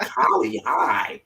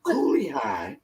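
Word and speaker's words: Cooley High: it is kali high i'm like holly hi of course she got the name wrong but it was coolly high and i went down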